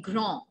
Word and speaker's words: grand: Now, when we add E, there comes difference in pronunciation as well, right? If suppose I want to say he is tall, I'll say il est grand, just grand. D will remain silent in the end.